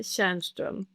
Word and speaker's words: Tjarnström: Falou certo, Divino, é Tjarnström.